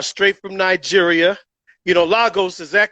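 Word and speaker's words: Lagos: But we call it Legos. like it goes.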